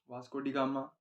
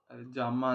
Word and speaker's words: वास्कोडिगामा: बात तो कर ली वास्कोडिगामा जामा नहीं भैया गामा स्पेलिंग गलत लिख देता